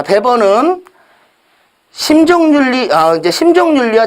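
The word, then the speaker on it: Weber: 자본주의 정신 이라는 책을 쓰신 분도 배워요 그 베버가 2배 거에요 도기 사람입니다 자 베버 그러니까 이거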